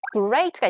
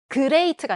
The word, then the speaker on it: great: 또 많이 쓰는 게 great가 있잖아요. great. great가 아니라 great. 그 great. great, great. 다르죠? 그리고 G 발음은 문 단어 끝에도 되게 많이 들어가는데 또 많이 쓰는 단어 중에 knowledge, knowledge가 있죠.